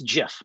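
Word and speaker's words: GIF: the specification and also it's Jeff it's pronounced Jeff get on board people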